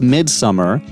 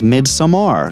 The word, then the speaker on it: Midsommar: for the longest time i was calling this mid-summer but then i i recently watched the special features with ariastor talking and he his pronunciation was mid samar so i i want to be accurate here